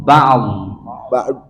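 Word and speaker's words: بَعْدْ: Baknya jangan bak biasa ya. Bapak berarti wakaf. Bacanya ba'd.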